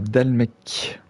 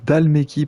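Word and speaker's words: Dhalmekia: Alors, le défilé de Nissa, c'est une vallée qui se situe dans la patrie de la République de Dalmec. Dalmeki, pardon, je le prononce mal depuis le début.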